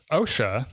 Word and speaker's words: Osha: So, OSHA, this is with these guys over here. Every time you say that, I think of OSHA, like the government organization.